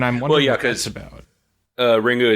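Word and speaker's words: リング: Ringu is just how you would actually pronounce it in Japanese. Like if you read the characters, it's Ringu, but the English translation would be Ring.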